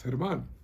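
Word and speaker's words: Germán: name properly so I told him it's hit him on but he butchered it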